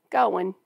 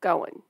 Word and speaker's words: going: word of the day going kind of like go and win going but it's all one word and it's only one syllable going all right here we